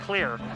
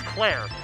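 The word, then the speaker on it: Cl-R: round season beatings undernight in birth exe light Claire I learned that's how you're supposed to pronounce it it's not clear it's not clear it's Claire uh we are here with our top eight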